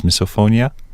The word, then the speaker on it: misophonia: Is misophonia?